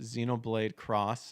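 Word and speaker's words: Xenoblade X: on here that butthole it's pronounced Xenoblade cross I made that mistake before oh that makes sense but if it was a c it's going to be like a cross is you know more plus sign than anything but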